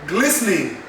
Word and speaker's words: glistening: Then we have glistening, glistening, not glistening. No, it is glistening, glistening. If you pronounce it as glistening, then you've left out the T and the E.